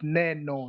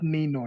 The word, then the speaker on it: Neno: The letter A is pronounced as A in the word bed. We don't pronounce it as E. It is A. So where there's A, you call it Neno, not Nino.